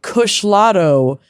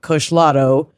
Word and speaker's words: Kushlato: They wanted to recommend the Kushlato from their favorite dispensary Lifted Northwest in Portland, Oregon.